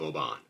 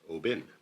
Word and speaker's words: Oban: I believe to be offshore from roughly in the neighborhood of Oban, which I think is actually pronounced Obin.